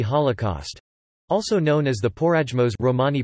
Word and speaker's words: Porajmos: or the Romani Holocaust, also known as the Porajmos Romani pronunciation, IPA, POIMOS, meaning the devouring, the Farahimos,